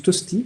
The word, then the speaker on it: Tosti: Tapez hypnose Tosti, comme ça se prononce, T-O-S-T-I, ça vous en fera un autre.